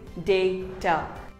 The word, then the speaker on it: data: is not data it is called data say day ter similarly here's another word it is not demon